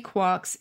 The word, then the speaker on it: quark: the allusion to three quarks seemed perfect i needed an excuse for retaining the pronunciation quark despite the occurrence of mark bark mark and so forth in finnegan's wake i found that excuse